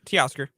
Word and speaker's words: Teoscar: So just, Oscar, but say T in front of it. Teoscar.